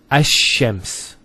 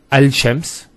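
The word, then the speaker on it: الشمس: So it's Ash-Shams, not Al-Shams. Because notice when you say Al-Shams, it's not smooth. Rather than Ash-Shams, which flows and is nicer to hear.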